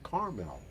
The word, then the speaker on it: caramel: If I say it the way it's spelled, it's caramel. Yes. Although I hear Carmel, like Carmel, California, but I've heard lots of people pronounce it that way.